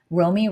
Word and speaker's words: Romie: Romie rhymes with homie, Romie.